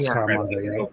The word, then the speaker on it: Scaramanga: Is that how he pronounced it? Scaramanga.